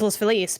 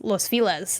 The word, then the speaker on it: Los Feliz: It's like, is it Los Feliz or Los Feliz? If you say it in Spanish, it's Los Feliz. But if you read it with the English pronunciation. It's Los Feliz, and it's like, what do people call it here though?